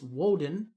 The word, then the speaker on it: Woden: was tears day wednesday was odin's day but pronounced in germaic it's woden uh thursday is thor's day and friday is